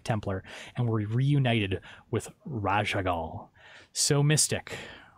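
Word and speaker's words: Raszagal: that you're gonna be forging ultimate for is Raja Gul did I say that correctly mystic yeah perfect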